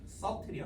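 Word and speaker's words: subtle: 여기서 비발음을 빼야 돼요. 원래 벌음할 때 서틀이야. 서틀 됐어요. 섭이 아니야. 서틀이야. 서틀.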